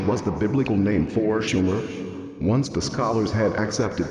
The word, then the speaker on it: Sumer: and their land Sumer except for mispronouncing the name it should have been Schumer not Sumer operate was right Sumer